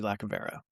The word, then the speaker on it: Lacovara: So I hope you guys enjoy this conversation with Lacovara. With, you're gonna have to pronounce your last name.